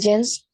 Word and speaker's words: genes: The genes. Yes. Correct. Genes. Genes. Just like the trousers that you wear. Jeans. Pronounced the same.